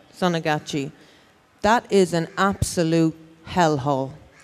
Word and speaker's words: Sonagachi: But that red light district, I think it's pronounced Sanjanati. Yeah. Sonagachi, that is an absolute hellhole.